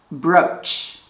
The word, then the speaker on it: brooch: Pay attention to this one. Double O, pronounce O, brooch.